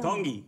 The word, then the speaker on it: Tongi: Tongi. Tongi. You pronounce the T's like a D in the Tongan culture.